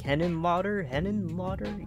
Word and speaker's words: Henenlotter: the film Basket Case by Frank Henenlotter? Yeah, that's how you say his name.